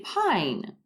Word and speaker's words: pine: Say pine. Again, 4 letters, 1, 2, 3, 4, but only 3 sounds. P, I, N. Pine, because the E is silent.